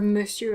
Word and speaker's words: monsieur: madame for the word monsieur it's a contraction of what used to be monsignor my lord and that turned into one word every time and now the pronunciation is very irregular the uh sound is